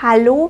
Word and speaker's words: hallo: unten in die Kommentare das Wort hallo beginnt mit einem aber im deutschen wird dieser Konsonant ganz sanft ausgesprochen du darfst nicht zu viel Kraft anwenden ich weiß es kann